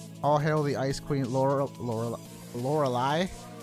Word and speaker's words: Lorelei: All hail the Ice Queen, Lorelei. I'm pretty sure I mispronounced her name as a kid. Probably something closer to L'Oreal or Lorelei.